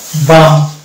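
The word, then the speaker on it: balm: আম যোগ হয়ে গেল বাম। তাহলে এখানে দেখতে পাচ্ছি যে এল উচ্চারণ আসছে না, একে এল এর যদি উচ্চারণ ধরতাম তাহলে লয়ে ময়ে যুক্ত হতো, বালাম হয়ে যেত, তাহলে এটা উচ্চারণ ভুল হয়ে যেত।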